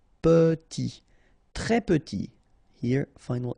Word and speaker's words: petit: Très petit, final T not pronounced, and then E is pronounced like a E, petit, très petit.